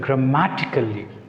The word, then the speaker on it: grammatically: But here there is another word, grammatically. Grammatically. So here LLY, the suffix is added. So those suffix is added, we can put stress on C.